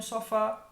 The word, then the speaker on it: sofá: Então aqui eu tenho sofá, mais forte, fá. Café, mais forte, fé. Caju, mais forte, ju.